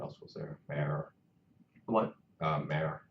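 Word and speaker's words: MÄR: Mare. Like Mayor, can you spell that? M-A-U-M-A-U-R. M-A-U-R. umlaut. It's like 2 dots above the A.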